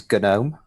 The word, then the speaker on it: GNOME: is it tell us so the official way of doing it is good no because it comes from the new project although to be fair